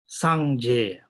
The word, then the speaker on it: Sangye: Now, Sangye, there are two syllables here. Sang, which means purified, clear away.